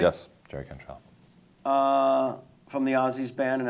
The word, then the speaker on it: Cantrell: I like that Jerry Cantrell, am I pronouncing that correctly? Yes, Jerry Cantrell.